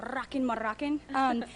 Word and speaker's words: Rockin' Moroccan: You got to roll your R's though. Rockin' Moroccan.